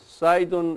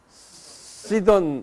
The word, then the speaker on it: Sidon: In Jesus' time, people from these areas, Sidon and Tyre, visited Capernaum to see Jesus.